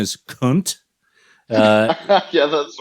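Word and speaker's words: Khünnt: Now, I noted that both you guys were in a band before Pigs, called, I think the correct pronunciation is Kunt.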